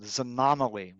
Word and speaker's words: xanomeline: They have a molecule called xanomeline, which actually is spelled with an X, which is delivered together with another agent, trospium.